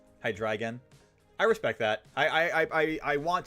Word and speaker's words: Hydreigon: Hydreigon. I respect that. I want to pronounce the Pokemon names as correctly intended.